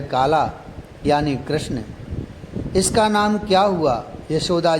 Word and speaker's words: कृष्ण: फिर हंसे गर्ग जी, बोले, किशन नहीं, कृष्ण।